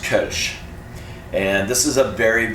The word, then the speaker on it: Kölsch: talk about what you might know as a kch but is pronounced kach and this is a very very unique style